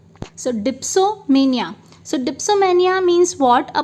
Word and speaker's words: dipsomania: So चलिए दोस्तों, next is डेस्पोमेनिया. सो डेस्पो नहीं, सॉरी, मैंने फिर इसका प्रोनाउंसिएशन जो है वो गलत किया है, डीप्सो. So that is dipsomania.